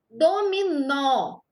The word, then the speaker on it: dominó: Dominó tem acento. Ó, quando a gente tem aqui acento agudo, o som da letra O vai ficar aberto.